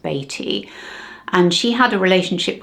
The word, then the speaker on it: Beatty: We've always called him Warren Beatty over here, but I think it is correctly pronounced Beatty.